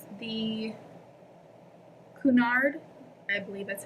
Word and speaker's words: Cunard: Sorry, it's kind of having a hard time to focus, but it says the Cunard, I believe that's how you say that, but it's spelled C-U-N-A-R-D, and then Steamship Company.